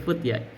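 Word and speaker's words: فتيا: Bacanya futya ya. Guru kami bacanya begitu futya. Enggak apa-apa, kita ikut aja dong.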